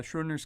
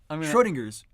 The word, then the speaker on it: Schrödinger: So if you know anything about the Schrodinger's cat paradox, I slaughtered that word, but I'm gonna gloss over that.